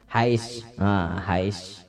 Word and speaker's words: Hiace: Inopanya segala macam nang motor napa nang kayak nang genal napa Hiace tulisannya apa bacanya tak Hais Hais kayak itu kah ya Hiace berisi seorang sidin.